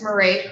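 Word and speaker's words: Mairead: My name is Marie.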